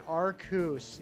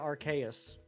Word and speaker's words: Arceus: Giratina is better than Arceus. Yeah, Arceus. That is a popular pronunciation. You ask me, I think it should actually be pronounced Arceus. Like Deus Ex Machina. Like Deus.